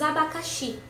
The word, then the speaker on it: abacaxi: Temos abacaxi. Abacaxi. Abacaxi. Qual foi que se prolongou? A última.